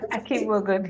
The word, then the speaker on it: Akigbogun: Am I pronouncing it? Akigbogun, yes.